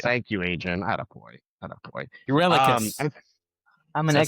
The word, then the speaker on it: Eurylochus: Greek Spell it? names. Yeah. It's Yuri Locus. Eurylocus. Yeah. Thank you, Adrian. Attaboy. Attaboy. Eurylochus.